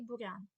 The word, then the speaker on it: бур'ян: мові чується коли апостроф порівняйте два слова буряк і бурян буряк 5ть літер ми вимовляємо м'яку буряк а бур'ян ми вимовляємо тверду там під'їзд Об'їзд нам треба